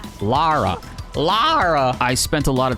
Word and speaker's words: Lara: Do you guys say Laura Croft or Lara Croft? Because we talked about that on stream once and somebody left a comment and they were like upset that we were saying her name wrong, and I'm like, Laura Croft? I was saying Laura Croft. Lara.